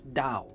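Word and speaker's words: 倒: it upside down dow upside down in chinese is pronounced as dao now the word dao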